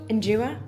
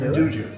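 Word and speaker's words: 'nduja: Endura. Is that how you say it? Induja.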